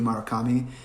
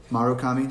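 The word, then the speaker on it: Murakami: um i love haruki marakami um marukami sorry i always say his name wrong it's always an a first not a you love him he's a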